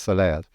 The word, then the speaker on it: Soleas: Soleas.